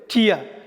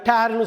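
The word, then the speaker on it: tear: அதே மாதிரி டிஇஏஆர் டேர்னு சொல்லலாம். டிஇஏஆர், ஐ டேர் த பேப்பர்னா இந்த பேப்பரை நான் கிழிக்கிறேன். ஸோ டேர்னா கிழிக்கிறது ஒன்று. ரெண்டாவது டியர், அதே ஸ்பெல்லிங் உள்ள வேறு உச்சரிப்பு உள்ள டியர்னா கண்ணிலேருந்து வர்ற கண் துளி.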